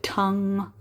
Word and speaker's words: tongue: Also tongue, again, the pronunciation, tongue.